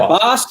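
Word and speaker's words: Bossk: We have, is it Bosk? Is that how you say it? Yeah, Bosk is one of the original OG bounty hunters that was with IG-88.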